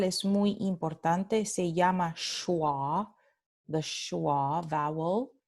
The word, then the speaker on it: schwa: Esta vocal es muy importante, se llama schwa, the schwa vowel, S-C-H-W-A, schwa.